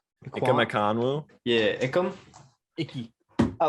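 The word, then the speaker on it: Ekwonu: Ikonwu.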